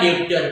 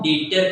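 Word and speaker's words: debtor: यार अभी आया डेटर क्या डेटर बी साइलेंट है मैंने तेरे को समझाया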